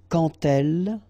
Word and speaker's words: quand elle: So like that, quand elle, all right, same rule here, remember when you will have this D, you will phonetically pronounce it like T, quand elle, dans un, okay, and